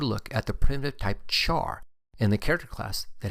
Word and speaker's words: char: at the Primitive type Char in the character class that has a collection of useful methods the Char data type and again some people might pronounce it care is a primitive type